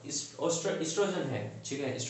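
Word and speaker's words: oestrogen: देखो ओ से स्टार्ट हो रहा है बट ओ साइलेंट मानते हैं, एस्ट्रोजन बोलते हैं उसको।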